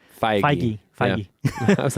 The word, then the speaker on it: Feige: What they have with Kevin Feige. Feige. Yeah. I was like, I don't know how to Feige.